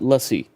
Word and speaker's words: lassi: Lassi. It's lassi or I think they pronounce it lussi.